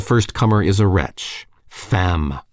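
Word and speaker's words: femme: Comer is a wretch fam woman rhymes with infam Infamous yes I have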